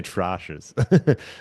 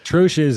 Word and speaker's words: troche: Troches. Why do I want to say troshes? Troches is sometimes how it's said, but troches is the correct way.